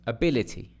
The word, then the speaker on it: ability: And this one is ability, a dum-diddy, a dum-diddy, ability, a dum-diddy, ability.